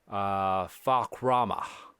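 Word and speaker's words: Fahkumram: But we finally got just more details on this one dude, Fakrama, right? How do you say it? Oh, Fakram.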